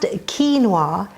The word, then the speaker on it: quinoa: look at my Channel about protein Alternatives now quinoa which is difficult to pronounce because it is a QR but it's pronounced quinoa is a seed that has 28% protein it's